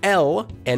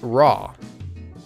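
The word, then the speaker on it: 라: Notice that it's not la and it's definitely not raw. Since it's pronounced using a different tongue position, you can hear how it's a softer sound.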